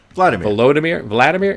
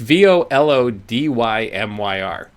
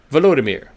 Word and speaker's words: Volodymyr: Am I saying that first name right? Vladimir. It's Volodymyr. Volodymyr.